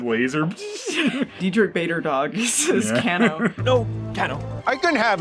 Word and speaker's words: Kano: And it's Kano. Kano. It's spelled Kano.